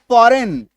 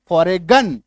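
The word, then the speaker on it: foreign: एफ ओ आर आई जी एन फॉरेन। फॉरेगन या फॉरेजन। यह तो नहीं होता।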